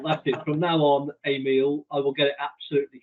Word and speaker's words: Emiel: You would pronounce it the same way as if you would go to a restaurant and you order a meal. Nice. That's how you pronounce it. Emiel. It's easy as that.